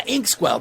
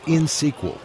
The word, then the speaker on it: INxSQL: I think it was InsQL. You mean INXSQL? That's in SQL.